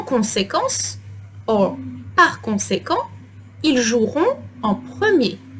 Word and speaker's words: joueront: En conséquence, or par conséquent, ils joueront en premier. Note that I'm not pronouncing ils joueront, but ils joueront, as if there was no E.